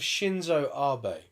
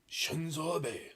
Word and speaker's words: Shinzo Abe: The assassination of Shinzo Abe. Oh, Now this was on Shinzo- July you're 2022. pronouncing that wrong. Shinzo Abe. Shinzo Abe.